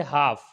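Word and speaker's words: half: इसी तरीके से हाफ, एफ से पहले एल आ गया है तो ये भी साइलेंट हो जाएगा।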